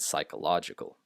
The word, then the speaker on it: psychological: least comes from Greek, and in English you do not pronounce P before S like this. It's psyche and psychological.